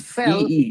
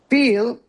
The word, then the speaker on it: feel: So, not fell. E. Yeah, fell. Yeah. See, feel versus fell, right? Fell is different, right? So, feel. Two e, right? Fell. Feel. Sorry.